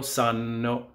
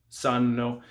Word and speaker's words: sanno: And loro sanno, sanno. We don't say sanno because that's a different word. Loro sanno, they know, the double N.